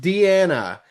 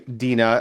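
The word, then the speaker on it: Deana: All right, Deanna. Not Deanna. Dina. Dina. D E A N A. Sorry, Dina.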